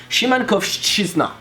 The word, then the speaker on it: Szymankowszczyzna: And the first one is almost silent, it's like sh. So yeah, I would say it's Szymankowszczyzna.